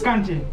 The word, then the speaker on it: Xanti: So it's Kanti. Anti. Good. So it's XANTI.